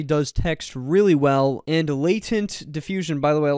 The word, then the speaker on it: latent: sense imogen already does text really well and latent diffusion by the way a lot of you have been yelling at me because i call latin diffusion latin diffusion where it's actually pronounced latent so latent